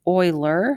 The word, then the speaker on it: Euler: this is a euler his name's not euler it's euler that's how you pronounce it diagram and i